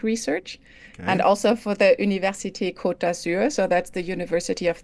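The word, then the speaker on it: Université Côte d'Azur: Center for scientific research and also for the University kotur so that's the University of the French Riviera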